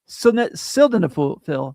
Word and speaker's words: sildenafil: They also offer options like sildenafil, the generic Viagra, at a fraction of the cost, plus other treatments so you can find what works best for you.